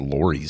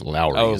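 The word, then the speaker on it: Lawry's: I mispronounced it. I think I said Lori's seasoning. It's Lowry's. Oh, Lowry's, right?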